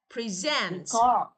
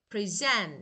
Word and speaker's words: present: Look, verbs, nouns. Look, noun the first part. Verbs the second syllable.